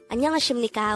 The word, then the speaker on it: 안녕하십니까: The first part, Annyeong, could be further divided into 2 syllables. Annyeong. An is formed from the combination of the sounds a and nian, while nyong is formed from the combination of the sounds nian, yo, and iya. So that's Annyeong.